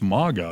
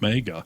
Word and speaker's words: MAGA: And by the way, my dad again the other day was like, "It's MAGA. It's not mega."